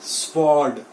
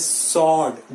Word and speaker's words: sword: देखिए यहां पे W is silent, so इट इज स्वॉर्ड, इट इज नॉट स्वॉर्ड। स्वॉर्ड वो साउंड नहीं आना चाहिए, इट इज सॉर्ड।